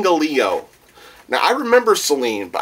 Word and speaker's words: Gallio: Let me reread this name so I know I'm pronouncing it correctly. Celine Gallio. I almost wanted to say Galnio. Gallio. Celine Gallio.